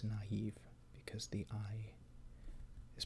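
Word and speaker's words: naïve: has the trauma or in naive instead of naive it's naive because the eye is pronounced by itself the last accent character that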